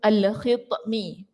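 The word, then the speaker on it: الخطمي: dengan satu daun nama al-khitmi. Okey, ni ta. Ejaannya itu bahasa Melayu tu takut salah bacaannya. Al-khitmi, ta. Alif, lam, kha, ta, mim.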